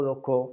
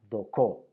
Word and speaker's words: δοκῶ: El verbo doko se puede decir dokeo o doko según el dialecto. Los jonios lo pronunciaban dokeo, mientras que los áticos, por ejemplo, lo pronunciaban doko.